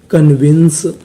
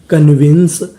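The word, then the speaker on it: convince: में लिखा है इ अगर आपको किसी भी मीनिंग के आखिरी में इ लिखा मिले तो हमें इ का उच्चारण नहीं करना होता हमें इ से पहले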